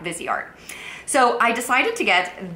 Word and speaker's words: Viseart: to pronounce Vizart because I was thinking it was Visart and then she was like, she sent me like the pronunciation. So, I think I'm pronouncing it right now. Vizart.